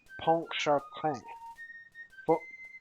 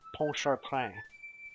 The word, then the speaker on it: Pontchartrain: And now somebody can spend their Dan points on renaming Fort Pontchartrain.